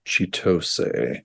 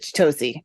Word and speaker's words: Chitose: Momoyo's storyline is insane, which her other name now is, I think it's Chitose. Yeah, I think so. That's it. Chitosi. I said it wrong.